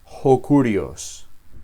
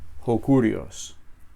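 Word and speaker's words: ὁ κύριος: Y nuevamente estas palabras se pronuncian juntas. Hokurios. Hcurios.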